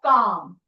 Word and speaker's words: calm: be ready it's meaning calm calm I am calm Okay, we know L is silent here. So we say calm and not calm. Okay, no L sound.